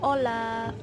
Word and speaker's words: Hola: atau sapaan itu hola-hola tulisannya Hola tapi dibacanya ha itu enggak dibaca di Spanyol jadi Olla sebenarnya kayak gitu ya